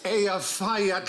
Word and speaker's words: Eyjafjallajökull: And I think, actually, the way you're supposed to pronounce it is... Hutch. If only. It changes it. Apparently, it's Eyjafjallajökull. Leiokodl.